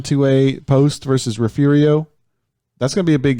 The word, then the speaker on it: Refugio: refugio that's gonna be a big game yes it's it is pronounced refugio even though it's build re f ug io Poston refugio to a division 1 7 o'clock